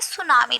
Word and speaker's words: tsunami: यानी इस लेसन में आप कुछ और नेचुरल डिजास्टर के बारे में जानेंगे जो कि क्या है, सुनामी। देखिए इसमें टी जो है वो साइलेंट रहेगा।